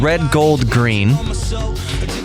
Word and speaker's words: RDGLDGRN: of the podcast is a band called Red Gold green although they spell it